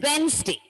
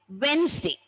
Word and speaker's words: Wednesday: When we pronounce the word, children, D is not given much stress. What? Okay, so we pronounce the word as Wednesday, Wednesday, Wednesday.